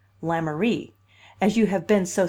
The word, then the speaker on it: Lemaire: Michael, and my house is in Lemaire Street, pronounced in Kingsport Lamourie, as you have been so civil as to find out.